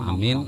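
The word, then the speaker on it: آمين: Jadi amin tuh bacanya alifnya panjang, minnya panjang. Nang panjang tuh amin, jangan amin, jangan. Atau amin, jangan a-nya panjang, minnya panjang. Tapi jangan dia terlalu panjang benar.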